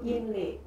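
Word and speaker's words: 阴历: Nah, sebenarnya kalau pengucapan secara Mandarin itu Inli itu artinya itu sebenarnya in itu kan bulan.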